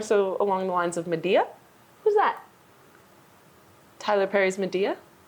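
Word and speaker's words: Madea: I was thinking more so along the lines of Medea. Who's that? Tyler Perry's Medea. Quentin Tarantino's Medea. Are you serious? Do you not know who Medea is? I don't know who that is. Look up Medea right now.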